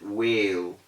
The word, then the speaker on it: whale: it looks like fish they call it whale whale is wrong the correct pronunciation is whale because it also follows this digraph this digraph rule so we have whale instead of whale i was able